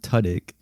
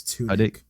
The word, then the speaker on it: Tudyk: Alan Tudyk is returning as Clayface in the DCU's Creature Commandos, which actually comes out, I believe, December 5th. Oh yeah. I like I think it's Tudyk. Tudyk.